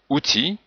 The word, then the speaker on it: outil: Il donc la lettre elle finale en général se prononce comme celle mais dans outil on ne prononce pas le L.